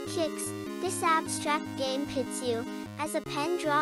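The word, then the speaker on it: Qix: Pronounced kicks.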